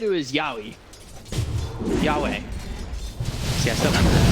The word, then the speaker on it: Yahweh: What is the correct pronunciation? So chat said it was Yahweh.